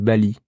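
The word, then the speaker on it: 巴厘: une question très importante comment on dit Bali en chinois c'est Bali aussi mais c'est un autre caractère c'est M c'est les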